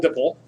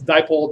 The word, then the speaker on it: dipole: called dipole dipole attractions they are not pronounced diple Dipple it's dipole dipole these are not buet